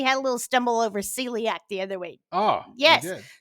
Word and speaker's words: celiac: pronounced i assume it's one of those latin c pronounced like s words like caesar it is they were